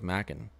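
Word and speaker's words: Macon: had some snow falling almost towards Mackin that's how you pronounce it really really far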